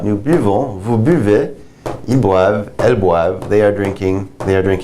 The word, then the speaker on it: boivent: Notice the NT aren't pronounced, just the V right here.